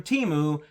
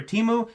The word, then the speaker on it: Temu: I think they pronounce it Temu now, but don't gurned it, I was around when they were Temu, and that's how I say it.